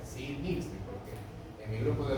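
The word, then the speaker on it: Ziehl: Así dice, sil. Esa es la pronunciación correcta, sil.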